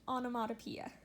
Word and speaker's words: onomatopoeia: I know that's a weird word but it's pronounced onomatopoeia in the first paragraph on this page is